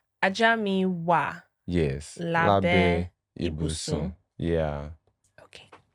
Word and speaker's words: wà: Ajá mi wà. Ajá mi wà.